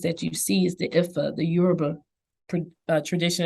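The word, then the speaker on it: Ifá: But there is, so what religion practices that you see is the Ifa, the Yoruba tradition. And I don't always pronounce that right, but it's IFA.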